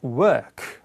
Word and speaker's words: work: Where work.